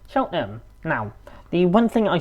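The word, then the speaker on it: Cheltenham: I'm in Cheltonham or as it's correctly pronounced, Chelham.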